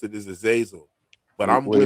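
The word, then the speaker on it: Azazel: is Aazelle, a lot of people do pronounce it as Aazelle, but it's Aazil. A lot of people, most people pronounce it as Aazil, but I'm What is What is he known for?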